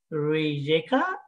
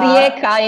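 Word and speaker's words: Rijeka: in the university of riykah croatia yeah it's correct greg that would be rieka in croatia and i'm sorry to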